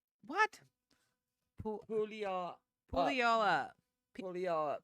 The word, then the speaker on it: Puyallup: In a crazy Washington State pulley off. What? Pulley off. Pull y'all up. Pulley off. Puyallup. Do you see that? Yeah. Bring it back.